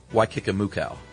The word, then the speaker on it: Waikikamukau: So here's his final one, is the small town of Waikikamakau is pronounced Waikikamukau.